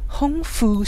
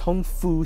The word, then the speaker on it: Hung Fook: some of the sounds but they just omit the K and just home full Street we've got 12 8